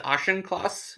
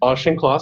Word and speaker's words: Auchincloss: And then you ended up with the ex-Republican Auchincloss, or however you pronounce his name. And it seems like the same people. What's that? I believe it's Auchincloss. Auchincloss, my mistake.